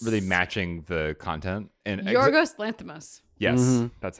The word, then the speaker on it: Yorgos Lanthimos: And Yorgos Lanthimos.